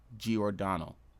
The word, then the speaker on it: Giordano: I pronounced his name wrong. It's Philip Scummy Giordano.